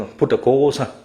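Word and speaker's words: Buddhaghosa: พระ พุทธโฆษาจารย์ น่ะ แล้ว เรา ออก เสียง ว่า พุทธโฆ ซะ พุทธโฆ ซะ นะ ครับ คุย กัน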